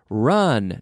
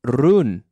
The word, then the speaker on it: run: run last weekend now be careful with the pronunciation run not rune okay run run we